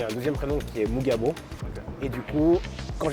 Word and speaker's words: Mugabo: Mugabo, c'est prononcé Mugabo. Ouais, alors mais moi j'ai pas l'accent Kinyarwanda donc... Mais c'est Mugabo, ouais.